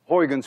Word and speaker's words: Huygens: we now know as Huygen's principle. At least you call it Huygen's principle. But we don't call it Huygen's principle. You see, this sound, U-Y, is pronounced in Dutch as ui.